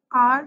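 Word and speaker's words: hour: आर जो है वो स्टार्ट एच से हो रहा है, इसका लेटर स्पेलिंग एच है, लेकिन इसका साउंड जो है वो एन आर है, आ साउंड है, that is a vowel sound.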